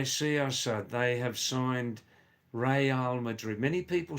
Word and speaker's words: Real Madrid: We can't say Real Madrid. It's got nothing to do with Real Madrid or Unreal Madrid. The proper pronunciation, Assad, is Real Madrid. Real. Real in Spanish language means royal, king and queen.